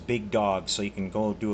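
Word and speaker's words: Big Dawgs: That's not spelled like the normal word dog. It's DAWGS, Big Dogs.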